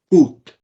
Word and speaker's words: coût: In French, this is getting changed to le, C-O-U-T, le coûte. See, nothing happened. This accent wouldn't really get pronounced as anything.